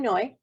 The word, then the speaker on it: Noi: I'm Noi, it rhymes with joy, and I hope this video helps you cultivate a little more joy in your life.